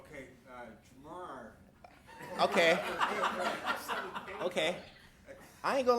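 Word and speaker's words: Ja'Marr: Jamar.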